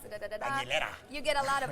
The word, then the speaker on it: Aguilera: name is hard for certain people to pronounce, Aguilera. You get a lot of Aguilera sometimes, but I let it slide, but I was like, no, this is my name, Aguilera.